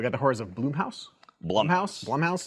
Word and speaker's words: Blumhouse: Blumhouse, is how you pronounce it.